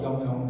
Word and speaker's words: Yang Yang: My Chinese name is called Yang Yang. The first name and the family name are pronounced the same, in the same pronunciation.